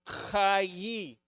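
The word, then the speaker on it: חיי: But it's not chei because there's a different vowel. Okay? There's a different vowel. This would be spelled in Hebrew. This would be spelled like this. This is a yud. So this is the KH. KH. This is the A. And this would be an E sound. So it's chayi. Chayi.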